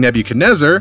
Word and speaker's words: Nebuchadnezzar: Rhymes with Ned can mutase her, or never can desert. Oh, no, I got it. King Negative Buzzard. Nailed it. King Nebuchadnezzar.